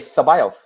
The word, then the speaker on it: Ceballos: How do we actually say his name? Is it Ceballos? Is it Ceballos? Ceballos. Okay, that's the way I'm saying Technically, you would say Ceballos, but I'm not going to do that.